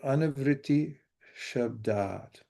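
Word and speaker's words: अनावृत्तिः शब्दात्: to do that, but the S with a slash over it is pronounced SH, like in shine. And the A with the line over it means that it's long. So anavriti shabdat, which means liberation by sound.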